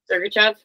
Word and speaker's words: Sergachev: Sergachev.